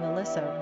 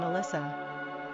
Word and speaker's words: Alissa: Quick facts on Alissa. Gender, girl. Origin, English. Number of syllables, 3.